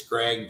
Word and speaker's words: Greig: It's Greig, Greig, Wells. So Greg Wells, spelled like that.